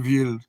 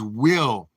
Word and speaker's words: Will: Ville? Ollie, I've told you 1,000 times. My name is Will. Will. Will. I'm being saying it correctly. Your name is being the Ville. Ollie, it's Will. Will.